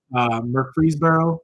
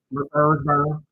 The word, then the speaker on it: Murfreesboro: Murfreesboro. That's how you say it. Murfreesboro. That's how I hear people say in the South, so that's how I'm gonna say it, right?